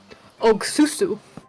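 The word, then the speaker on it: 옥수수: Ogsusu.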